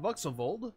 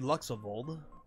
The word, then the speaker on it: Vuxavold: Right now, I'm Vuxavold, as it's pronounced. It was supposed to be Luxavold. Fuck that up, but it's Vuxavold. It is currently that day and time for the Able Sisters Tailing Shop open today.